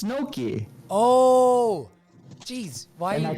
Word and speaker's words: gnocchi: Let's make some gnocchs.